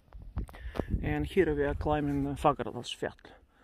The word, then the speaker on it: Fagradalsfjall: You see, in Icelandic, fjall means mountain, but you write it with double L, so you pronounce it as T-L. Fagradalsfjall, not Fagradalsfjall. They like double L. It's pronounced as T-L in Icelandic.